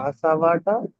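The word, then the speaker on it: كسب: কাসাবাটা ব, ব উচ্চারণ হবে কাসাব। হুম, সাকিন হয়ে যাবে।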